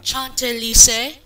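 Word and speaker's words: Chantelise: probably the same company who distributed um um chant Lis as it's properly pronounced and U rer um but anyways enough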